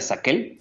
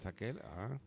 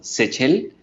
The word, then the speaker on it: Sachel: Entonces, originalmente el apellido se escribe con C y K, se pronuncia Saquel, Saquel, pero ya pues con todos las adaptaciones que se hicieron al ingresar al al mundo hispano. país, pues exactamente ya se escribió como Sechel, Sechel.